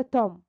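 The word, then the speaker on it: tomb: مقبرة توم. البي صارت اي بي خفيفة بعدين من غير منطقة يا ولاد. توم لكن البي تقيلة بنطقها عادي جدا.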